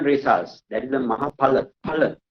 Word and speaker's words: phala: Phala. Right? P-H-A, not Fa, Pa.